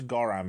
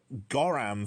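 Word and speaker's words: gorram: Goram feels like, because of the ending and the start, phonetically it feels very similar to saying goddamn, like really quickly, goddamn.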